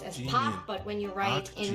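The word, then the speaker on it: 박: it is pronounced as Pop but when you write in romanization we write it as Park and I know nonsense it's never pronounced as Park it's not Park it's so keep that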